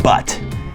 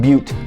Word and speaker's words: Butte: uh sorry excuse me right butte not butt um don't make that mistake when you move here it's pronounced butte not butt there you